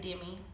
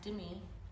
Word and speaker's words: Demi: A lot of people will say Demi. It's okay. I'll still answer to it, but it is pronounced Demi.